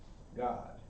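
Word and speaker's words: Gad: how it's pronounced in hebrew in hebrew is pronounced god all right all right there we go so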